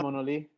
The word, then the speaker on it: Monoli: I've been mispronouncing that for like 18 years. Oh yeah, Mona Lee. It's a Spanish translation of monolith, which is the town that I was born in. I've been saying Manoli for I think 17 years now.